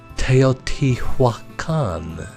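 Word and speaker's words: Teotihuacan: say the city of teoti Hua Khan and I say that slow so that you can actually learn it it consists of four syllables tail t Hua Khan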